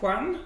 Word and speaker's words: Juan: Against Miguel Juan, I'm guessing. Juan, that's how it's pronounced.